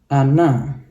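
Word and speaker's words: она: dua suku kata ya huruf a-nya yang mendapat tekanan huruf o-nya tidak maka huruf o ini kita bacanya jadi a maka kita bacanya jadi Ana Ana gitu ya naiknya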